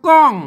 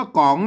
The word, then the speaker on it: กล๋อง: ว่า ของ นะ ครับ อ่าน ว่า ก๋อง นะ ครับ ไม่ ใช่ กลอง นะ ครับ อ่า อ่าน